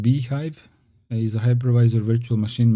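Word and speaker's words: bhyve: the data Vladimir says bive the BSD hypervisor pronounced beehive is a hypervisor virtual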